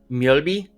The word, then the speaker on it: Mjölby: And I hope I pronounce this right. It's Mjölby?